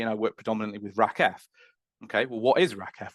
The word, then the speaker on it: RACF: So, RACKF is uh pronounced say RACF is pronounced RACKF um and it stands